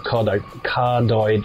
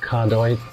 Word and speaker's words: cardioid: because the mic is what they call a cardioid mic. Is that pronounced properly? Cardioid?